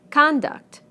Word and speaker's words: conduct: Conduct, conduct. Progress, progress. Contract, contract. Object, object. Permit, permit. Again, we stress the first syllable in the nouns and the second syllable in the verbs.